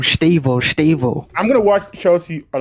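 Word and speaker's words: Estêvão: Stavo.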